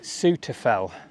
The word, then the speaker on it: Souther Fell: Right, this fell is called Suter Fell, but it's spelt Suter Fell.